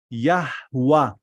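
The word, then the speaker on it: Yahweh: and then hey so the route the right pronunciation of the name of God from Torah with the vowels is yahwah all right get me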